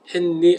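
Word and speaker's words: Henri: 앞 아르민 않은가 봐요 그 영어식으로 하면 했니 인데 프랑스식 발음으로 앙리 에요 핸리 앙리 이렇게 그런데 그 h 아고 뒤는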